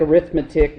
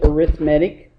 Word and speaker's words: arithmetic: okay and the uh arithmetic mean looks like arithmetic but pronounce it arithmetic the arithmetic mean uh